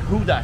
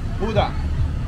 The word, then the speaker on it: Huda: So the beer here in Hue is called Huda. And I was told by a Grab driver earlier today that Huda is supposedly stands for Hue and Denmark.